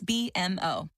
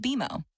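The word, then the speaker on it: BMO: when you do I bet you'll call us BM o don't worry it's more common than you think but we actually pronounce it beo as in with bimo you can earn a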